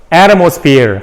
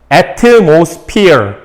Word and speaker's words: atmosphere: atmosphere 강세가 앞에 있습니다. atmosphere 근데 부드럽게 해보세요.